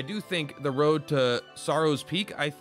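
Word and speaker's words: Psaro: think the road to sorrow's peak i i was told to pee is silent i don't know i don't think it's pissarro i think it's just sorrow which is a cool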